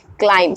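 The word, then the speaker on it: climb: हमने pick up किया क्लाइम सी एल आई एम बी सो आप देख सकते हैं कि फर्स्टली हमने क्या एम लिया उसके बाद हमने बी लिया सो दैट्ची बी जो है ये साइलेंट हो जाएगा क्लाइम नाउ नेक्स्ट हमने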